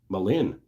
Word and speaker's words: Malin: I was gonna make pens, but Mal like Malcolm and in like the opposite of out. Malin.